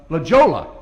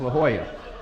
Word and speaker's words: La Jolla: is a look uh legola california she says la jolla i said that's a jola i said look at the way it's spelled she said it's la jolla so it's not so